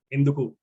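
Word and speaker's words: ఎందుకు: It is a 3-syllable word, enduku.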